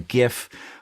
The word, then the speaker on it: GIF: their attention or or a gif um or GIF depending on how you pronounce it but I'd love to